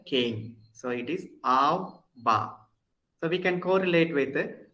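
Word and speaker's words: בא: Ba means came. So here actually, this aleph we are not pronouncing at all because aleph is silent. So just I am pronouncing only the ba here.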